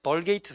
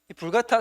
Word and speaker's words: 불가타: 번역을 한게 바로 뭐냐면 벌게이트 성경 어 혹은 이제 이거 게이트라는 말은 영어식 발음이고 라틴식 발음은 불 같아 불 같아라는